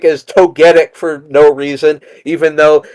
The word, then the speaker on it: Togetic: They pronounce Togetic as Togetic for no reason, even though you don't call Togepi Togepi, and you don't call Togekiss Togekiss.